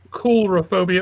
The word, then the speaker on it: coulrophobia: It's COUL. Phobia. RO. Phobia. Yeah. More like coulrophobia or calrophobia. Okay. Yeah, it's got a long O.